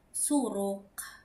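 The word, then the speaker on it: zurück: melihat ya ee huruf C ketemu sama huruf K berarti ini huruf K tapi agak ditekan seperti dalam kata suruk. Suruk artinya adalah back atau kembali. suruk itu ya. Jadi k-nya itu agak ditekan. Nah, kemudian jika huruf I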